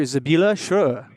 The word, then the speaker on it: Sibylle Schroer: society on today's show we have um dr zabila sure say hello to say hello to james slade hello thank you um you pronounce my name really well it's a hard